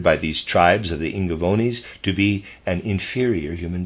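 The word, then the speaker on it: Ingaevones: the year readers aside I'm pronouncing i n g a e v o n e s as ingavonis sorry end of readers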